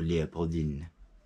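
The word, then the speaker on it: Léopoldine: called Lea Pauline or Leopold in making sure he pronounced the N at the end and she was obviously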